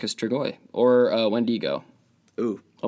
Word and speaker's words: Strigoi: of vampire from Romania, every American and Australian person that I watch, because those were the 2 dialects of the videos on YouTube, they pronounce it Strigoi. And then you punch it into Google Translate, and it detects Romanian, and I'll turn it up so y'all can hear. Strigoi. No. Strigoi.